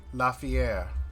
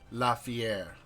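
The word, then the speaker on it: L'Fiere: Lafier. How do you spell that, Mr. DM? L Apostrophe. F I E R E. Lafier.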